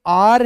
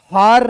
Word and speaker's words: hour: इसका जो उच्चारण है दोस्तों ये आर है, हार नहीं है, आर है, इसलिए दोस्तों इससे पहले एन आना चाहिए, ठीक है।